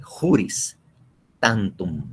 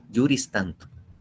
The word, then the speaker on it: juris tantum: Una presunción juris tantum, como dice la doctrina, que se escribe juris tantum, así como se oye, T-A-N y T-U-M, juris tantum.